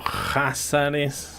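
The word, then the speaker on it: Khazaros: Antes de los pechenegos, las estepas al norte del Mar Negro estuvieron dominadas principalmente por los Házares, Cázaros con K. K-H-A-Z-A-R-O-S, Cázaros, pronunciado Házares o Házaro, un poderoso pueblo túrquico que creó el Kanato Házaro entre los siglos 7 y 10.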